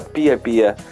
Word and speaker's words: Pispis: Comunque quel fiume è in Nicaragua e Pispis si pronuncia Pie Pie.